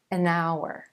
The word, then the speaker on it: hour: the consonant letter H that H is silent and the first sound you hear in each word is actually a vowel sound so it's an hour an hour I'll be